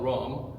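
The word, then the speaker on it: rhum: So they instantly put it in fermentation, and when they make it that way, it's spelled rum, because the H is silent in French, agricole.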